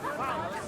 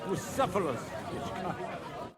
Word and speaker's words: Bucephalus: What kind of name is Phallus anyway? It's pronounced Bucephalus.